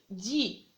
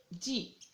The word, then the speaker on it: dis: on va trouver des lettres muettes lettres qu'on prononce pas mais je répète je dis je dis voyais à la fin il y à lettres